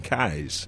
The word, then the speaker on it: Kais: So I want to make sure I got the pronunciation of your last name, Kais.